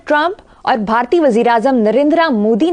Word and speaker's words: नरेंद्र: जो आपने किया है नरेंद्रा मोदी यह सेमा साइलेंट होता है जो ए होता है मतलब आपने कभी सुना है किसी से हिंदुस्तान में धर्मेंद्र धर्मेंद्र ये इसको इस तरह पखत के नरेंद्रा नहीं इट इज नरेंद्र हल्का सा हम और धर्मेंद्र जितेंद्र